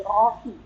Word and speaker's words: Rohi: Sher Tuhan adalah gembalu Jadi dibacanya bahasa ibraninya Roi cuma ini ada koma dibaca ha jadi Rohi ywe y y Rohi